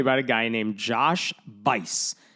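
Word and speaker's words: Buice: Okay, let me tell you about a guy named Josh Vice. His name is spelled B U I C E, but it rhymes with lice.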